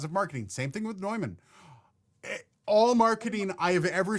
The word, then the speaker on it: Neumann: OG Quasi, you could argue that Neumann as a German brand is supposed to be pronounced the German way, but I don't care.